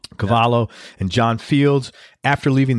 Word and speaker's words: Cavallo: session guitarist with producers Rob Cavallo and I pronounce all writers caballo yeah Cavallo Cavallo and John fields after leaving the Goo Goo